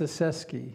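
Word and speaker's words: Ostaseski: Ostaszewski.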